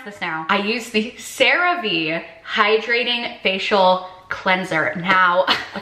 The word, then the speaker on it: CeraVe: I use the, okay, I know how to pronounce this now. I use the CeraVe Hydrating Facial cleanser. Now, a few vlogs ago, I referred to this as, how did I say? I said CeraVe, I think.